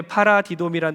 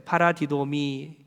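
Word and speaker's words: παραδίδωμι: 여러분, 헬라어 중에 파라디돔이라는 단어가 있어요. 파라디돔이 한번 따라하겠습니다. 좀 발음이 꼬이수, 도레미파솔 이러면 안 돼요.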